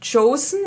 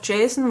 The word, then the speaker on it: Joseon: So, dann haben wir als nächstes die Beauty of Chosen. Ich bin immer kurz davor zu sagen Beauty of Jason, weil mein Freund meinte, dass das ja bestimmt wie Jason ausgesprochen wird.